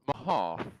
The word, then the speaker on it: Mehoff: Sir, it is pronounced Mahoff.